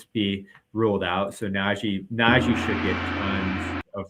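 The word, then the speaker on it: Nnaji: Yes, Naji. Uh, Naji. Yeah, there it is. 4500 with Valenunis. I expect Valenunis to be ruled out. So Naji Naji should get tons of run tonight.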